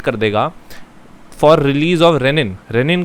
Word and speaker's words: renin: देगा और वो सेल रेनिन रिलीज कर देंगे। ये रेनिन जो है ना, रीनिन है, RENIN, नॉट रेनिन।